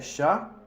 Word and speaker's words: chats: Les chats, des chats, con un S que nunca se pronuncia.